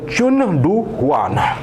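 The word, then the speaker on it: 전두환: बात कर रहा हूं मैं चुन डु वान चुनड वान चुनड जी ये इनका नाम था प्रोनाउंस ऐसे ही होगा अच्छे क्यूट से नाम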